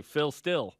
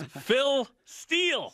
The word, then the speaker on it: Phil Steele: Phil Steele on, because they'd say Phil Still. Phil Still. And I'm like, it's Phil Steele. Steele, pronunciate. Eel.